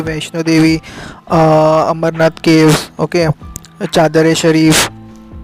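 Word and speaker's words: Charar-e-Sharif: Pilgrimage places है यहाँ पे कई जैसे कि वैष्णो देवी, अमरनाथ केव्स, ओके, चादर ए शरीफ, एक्चुअली स्पेलिंग में इट इज़ चारर ए शरीफ, CHARAR I शरीफ।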